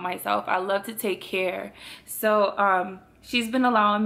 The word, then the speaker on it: Cynthia: my American name but my real name is Cia like that's that's my name that's the pronunciation of my name being French speaking like my family calls me and then every time